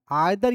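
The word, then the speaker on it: either: इसको बोलते हैं ऐसे आइदर। आइदर या ईदर भी दोनों प्रोनाउंसिएशन होता है इसका।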